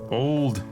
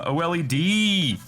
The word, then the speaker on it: OLED: Old. It's really old. This is an ancient Nintendo Switch. I know that's not how it's pronounced. The OLED.